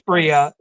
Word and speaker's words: Bria: Yeah, It's Bria. The pronunciation of the dog is Bria.